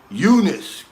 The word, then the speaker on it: Jonas: a shout out my name is jonas it's pronounced eunice cannot with a white